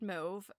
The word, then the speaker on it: mauve: Um, so yeah, I mean mauve like suave. But I have heard it said mauve, and to me that sounds like kind of French and European and like whatever.